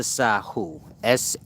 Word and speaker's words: Sahu: now back to the sahu h u truly pronounced like sir this is the judging